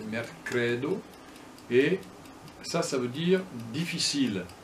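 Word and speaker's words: merkredo: L'accent tonique tombe sur l'avant-dernière syllabe. Alors par exemple, là c'est mercredi, mercredo, c'est pas mercredo comme on dirait en français, c'est mercredo, et ça veut dire difficile, mal faciligi.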